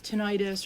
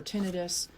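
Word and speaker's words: tinnitus: hearing loss so idus tentis or tenus I've heard it pronounced both ways but that's like a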